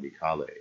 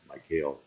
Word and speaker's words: Mycale: That mop up later on would happen at a place called Mycale, or Mycale. It is a not very nice sounding pronunciation, but you'll sometimes hear that.